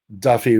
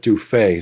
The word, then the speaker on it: Duffy: pronounce bacon bason, and other fixes like Duffy. We had one guy who would pronounce it Dufay, so we had to change all that.